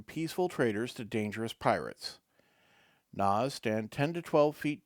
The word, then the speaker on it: Kna: A Na, pronounced N-A-H, is a aquatic humanoid well known for its strength.